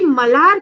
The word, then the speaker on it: मल्हार: उस पर चढ़ा देते लेकिन जैसे मल्हार इसमें क्या होता है कि मलार करके उच्चारण और हाथ से पहले तो